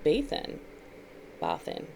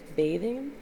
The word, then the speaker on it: Bathin: demonic energy is named bathin b-a-t-h-i-n bathing bathing i did go to baths a bath because it's spelled like a bath it's there's no g there but it's number 18.